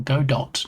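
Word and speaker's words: Godot: or go dot depending on how you want to pronounce it.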